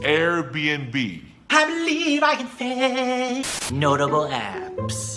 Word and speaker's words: Airbnb: it is Google Google a lot of people get confused when they see that little end between the B's n actually means and so it's Airbnb Airbnb I believe is notable